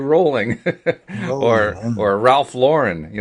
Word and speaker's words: Rowling: talking about people like JK rolling rolling rather I've been mispronouncing your name all this time JK Rowling or or Ralph Lauren